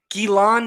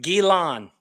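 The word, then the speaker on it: Ghislaine: is silent guillain guillan gilan maxwell am i speaking french now is it guilan spencer the s is silent gilan if you've got me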